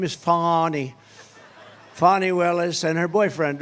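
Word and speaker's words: Fani: right has anybody fonny it's pronounced fonnie F A ni I that's Fanny but she likes it funny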